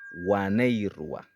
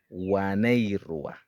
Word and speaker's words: waneirua: Unas, unos en Wayuunaiki se dice waneirua, waneirua.